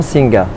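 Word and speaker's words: สิงห์: Parce que ce Singha ne se prononce pas Singha, mais se prononce Sing sans le A final.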